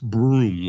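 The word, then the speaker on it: Burum: B Ru M uh pronounced broom like broom sweeping something away you're not going to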